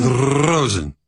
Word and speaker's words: Rosen: And then, isn't your name pronounced Rosen? Rosen. Yeah, Rosen. Rosen Sports Sunday. Got to roll that R.